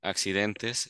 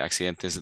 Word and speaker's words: accidentes: you're having are you having accidents so uh accidentes is accidents so you can say accidentes the accidents of UR you say accidentes they